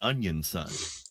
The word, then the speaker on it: Onision: Mickey, you're saying it wrong. It's Onion Son.